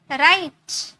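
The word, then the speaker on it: write: तो यहाँ पर आपने आर को किस में प्रोनाउंस किया, र में, रिंस, रेस्ट, राइट। अब यहाँ पर डब्ल्यू प्रोनाउंस नहीं है, यहाँ पर डब्ल्यू साइलेंट है, आर से स्टार्ट हुआ, राइट, ओके।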